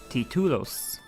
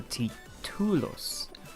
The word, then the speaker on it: títulos: Títulos. There's an accent on the I, so títulos.